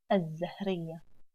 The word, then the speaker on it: الزهرية: And the alif again ignored and join alif in the pronunciation to the ز مشددة. الزهرية.